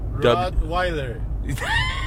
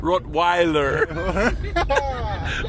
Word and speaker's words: Rottweiler: It's spelled R-O-T-T. Rottweiler. That's exactly how he's supposed to say it. Rottweiler. Like rock lobster.